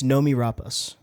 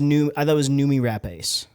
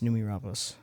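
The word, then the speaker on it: Noomi Rapace: It's Nomi Rapace. Oh, it's Rapace. Yeah. I always say like Rapace. I thought it was Numi Rapace. It's Rapace. Yeah, it's Numi Rapace.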